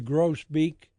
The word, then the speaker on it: grosbeak: What's the pronunciation? Grosbeak.